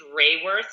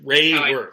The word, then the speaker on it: Raworth: It's Raworth, so Ray Drop of Golden Sun Worth. Raworth.